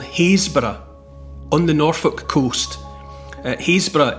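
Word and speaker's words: Happisburgh: at a place called hazor on the Norfolk Coast HB it looks more like hapb if you look for it on the map h a p p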